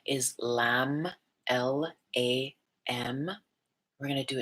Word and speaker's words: Lam: The sound is Lam, L-A-M.